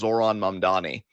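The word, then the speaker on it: Zohran Mamdani: I'm going to say my high spot is is Zoron Mandani, who I'm proud of Twit Wow for being a podcast that can uh properly pronounce the man's name.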